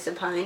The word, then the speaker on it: supine: Another way to memorize supine is, I think you might want to knock this one out. Alright, it rhymes with spine.